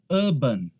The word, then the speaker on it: urban: A próxima é essa aqui, ó, urban. Essa aqui não é urban, é urban. Tanto em inglês britânico quanto em inglês americano, tá?